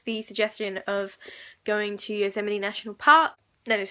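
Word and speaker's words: Yosemite: um amy has the suggestion of going to use M&E national park that is how you pronounce right from there they just you know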